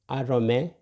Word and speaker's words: arome: So if you can see here, this is arome. You see raw. It's not to. It is raw. Arome. Arome is 11.